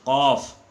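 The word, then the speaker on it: ق: Di antaranya adalah pengucapan huruf Qaf harus dibedakan dengan huruf Kaf. Qaf itu dari tenggorokan, dari sini. Sedangkan Kaf itu dari atas sebelum masuk, atau kerongkongan yang paling dekat.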